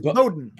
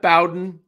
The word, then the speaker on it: Bowden: Bowen handed out pronounced Bowden pronounced Bowden Bowden yes Bowden it out preseason like roer not R not Bowen Bowden Jim Bowden as